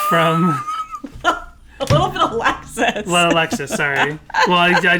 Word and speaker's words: Alexis: Lexus.